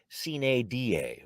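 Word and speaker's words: sine die: regular session is adjourned signee die well a lot of cheering there and if you're wondering folks the traditional latin pronunciation would be cena d.a without a day signaling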